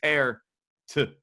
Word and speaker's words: Peart: It is, I think it's Pear to trying to pronounce it right these days. Pear with a T.